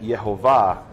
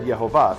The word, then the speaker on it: Yehovah: read it Adonai, but if you take the vowels the way they are, it's not, the name would be read Yehovah.